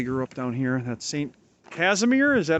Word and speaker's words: Saint Casimir: 40s 50s they grew up down here that's saint casimir is that how you pronounce it yep polish church and uh north